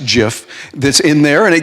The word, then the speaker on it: GIF: you might recognize and that is a Jif pronounced jiff that's in there and it gives you the